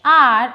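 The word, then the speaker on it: hour: He was driving 80 miles dash R on the motorway. H is silent here, so R.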